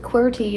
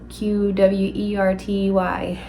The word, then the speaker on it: QWERTY: Like QWERTY is how I suppose you would pronounce it, but it's like whenever you're typing on the keyboard, and so it's QWERTY, like the top whateverness of a keyboard.